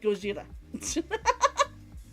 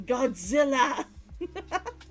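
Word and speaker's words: ゴジラ: trained it into me that that word is pronounced like goira rather than the American Godzilla it's just a weird it it it's a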